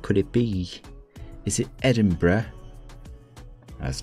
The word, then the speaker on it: Edinburgh: person they're gonna say it's not bro it's it's not brah it's not brah it's adam edinburgh how does it become